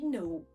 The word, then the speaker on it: know: O K é mudo em palavras como knife, knee e know. Então a gente pode perceber um padrão aqui. Quando a palavra começa com KN, esquece aquele K, ele não vai ser pronunciado.